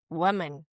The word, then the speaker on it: woman: So how do we pronounce woman? You can either do the schwa in mun, woman, Uh-huh. woman. Women. Well, actually, yeah, that is preferable. So the British version would be more like woman.